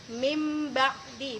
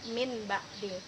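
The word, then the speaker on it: مِنْ بَعْدِ: ketemu dengan huruf ba maka bunyinya menjadi mimba'di bukan Min ba'di dan jangan lupa kita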